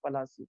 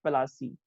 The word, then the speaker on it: Palasi: no battle as such itself is actually a place on the river bhagirathi it's a place it is the name but the britishers they cannot pronounce this so they call it palaci so it's a english-sized